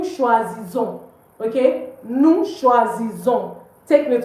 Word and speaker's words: choisissons: So please don't pronounce the S. It's not nous choisissons. It's nous choisissons.